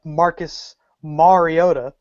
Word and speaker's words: Mariota: gonna go with uh number two overall pick Marcus Mariota as I read today that's the correct pronunciation four touchdowns granted he's playing Tennessee but